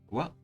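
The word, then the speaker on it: は: Wa, instead of being pronounced ha, you pronounce this particle as wa.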